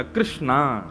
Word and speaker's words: कृष्णा: करते हैं कि भगवान भगवान का नाम उच्चारण करना है तो कृष्ण बोलो कृष्ण और यदि द्रोपदी का उच्चारण करना है तो कृष्णा बोलो अकार आ की मात्रा लगाओ संपूर्ण महाभारत के पात्रों